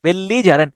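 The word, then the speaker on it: belligerent: মনে হয় আমার কাছে যে ঝগড়াটে হয় তো বেলি জারেন্ট বেল্লি বেল্লি জারেন্ট বেলি জারেন্ট উচ্চারণ করতে পারেনবি বেল এল আই লি বেলি জি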